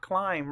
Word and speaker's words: climb: it in the word climb right here and what we know is that when MB are together at the end of a word or syllable the B is silent and we see that